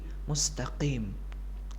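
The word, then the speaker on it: مستقيم: Qaf di sini bukan kaf, bukan mustaqim, akan tetapi mustaqim. Mustaqim. Ada penekanan di huruf qaf dan bukan penekanan yang terlalu tebal.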